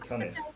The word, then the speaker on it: Cunniffe: I said Cuniffe instead of Cunniffe.